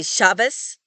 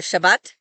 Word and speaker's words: Shabbat: But some Ashkenazi Jews pronounce it like an S in some environments. And so this is why Ashkenazis say Shabbos for Shabbat, and bris instead of Brit, which is the circumcision ceremony.